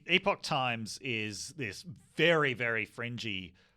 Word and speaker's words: Epoch Times: talking about with the as she pronounced it the epic times so the epoch times is this very very